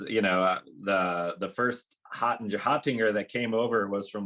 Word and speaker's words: Hottinger: Hottinger. Hottinger.